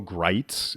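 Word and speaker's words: Gritz: No, but particularly the name Bo Greitz is probably the name. He was like one of the spelled like grits, but not pronounced that way.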